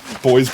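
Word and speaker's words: Bois Blanc: Oh, it is boys. Wait, it's actually boys.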